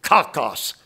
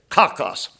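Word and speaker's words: κακός: let me give you the word for evil cockos K A K oos cockos what does it mean this will surprise you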